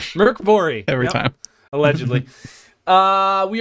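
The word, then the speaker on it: Mörk Borg: first episode of the series morkborg how's it pronounced Caleb Merc bori Merc bori every time allegedly uh we are going to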